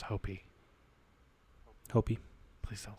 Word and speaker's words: Hopi: the poblo people Apache and Hopi or hoppy each have their own unique interpretation of what a skin walker might be it's pronounced hopy Hy please don't say